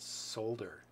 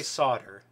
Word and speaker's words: solder: yeah experts otters yeah I've heard people pronounce it solder I say solder yeah it's like tomato tomahto except they're both fine yeah I don't know that one is because there is an L yeah right Sol de